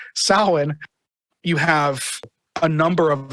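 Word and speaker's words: Samhain: with Sam with uh salwan she almost said Sam Hayne Salin you have a number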